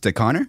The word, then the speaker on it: Stechauner: do you know how to pronounce my last name is it it's the connor yeah damn i don't know if you've heard